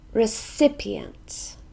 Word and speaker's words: recipient: it's one of these recipients this is a noun and it has four syllables we stress the second one recipients recipient ambassador and bass